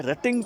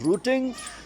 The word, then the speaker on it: rutting: ये बड़ी इंपॉर्टेंट इस्तेलाह है, रटिंग पैटर्न। यहाँ से स्पीक आउट करने में, प्रोनाउंस करने में टर्म रूटिंग पैटर्न नहीं है, ये ज़बर से है, रटिंग पैटर्न है।